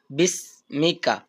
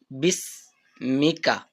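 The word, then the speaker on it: بِاسْمِكَ: আমরা রিভাইজ দিই আল্লাহুম্মা বিসমিকা বিসমুকা বলে অনেকজন কিন্তু এটা সঠিক উচ্চারণ কি হবে বিসমিকা তারপর কি আছে আমুতু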